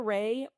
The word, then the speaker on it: Rahe: That's why it's hard for me to always give Ray because it doesn't sound like it's spelled. It's a n a rahee r a h e pronounced ray of gst is our Instagram and GST body.